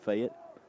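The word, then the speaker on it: Fayette: f of Alabama and depending on how you say it some say fet but the folks from fet say fat NS to return High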